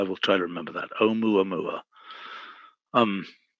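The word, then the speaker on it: ʻOumuamua: Brian is telling me how to pronounce this Hawaiian name. Okay. Oumuamua. Oumuamua. Okay, thank you. I will try to remember that. Oumuamua.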